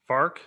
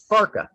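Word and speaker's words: Farke: probably say what f-a-r-k-e yep how would you pronounce that farc yeah ex you're right that's exactly correct and that would be not right right so his name is actually farka i mean i would i would have guessed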